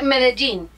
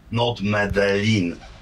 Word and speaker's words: Medellín: C'est Medellín. Tu vois? Pas Medellín. Alors n'écrivez pas que c'est Medellin, Medellín. Encore une fois, comment le prononce-t-on ? Vous dites Medellín.